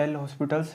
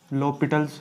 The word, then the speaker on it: L'Hôpital: इसे लिखा इस तरह से जाता है एल हॉस्पिटल्स, लेकिन हम इसे प्रोनाउंस लॉपिटल्स रूल करते हैं। लॉपिटल्स रूल, ये इसका प्रोनाउंसिएशन है।